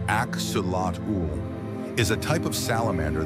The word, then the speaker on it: Axolotl: Native to the lake complex of Zochilco in Mexico, the axelottle, pronounced axulat, is a type of salamander that never fully grows up.